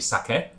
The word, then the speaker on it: sake: and i've also realized i've been like americanizing my pronunciation of that word quite dramatically from recollection it's actually sake but i'm sure um